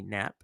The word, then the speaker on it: Knapp: Danny, if the K is silent, that's Danny Knapp.